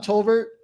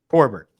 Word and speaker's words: Torbert: Torbert with an R. But you could probably get his name wrong. I thought you said Tolbert. Toll booth. My it's bad. Like Torbert. Like tore up confetti.